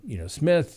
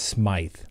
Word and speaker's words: Smith: No, but I get up there and said, well, juror number, Smith, what are your thoughts? And they corrected me and said, well, actually, it's pronounced Smythe.